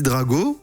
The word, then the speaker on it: Draco: mail à la casse écrit draco non parce que ça s'écrit comme ça et ça se dit drago ou alors c'est nous